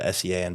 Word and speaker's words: Sean: So when I said, Oh, that's why Sean is spelled S-E-A-N, but it's pronounced Sean.